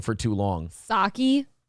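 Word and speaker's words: Psaki: by the way the p in pasaki is Silent not no I can't I've been wrong for too long sake it's Jen pasaki I've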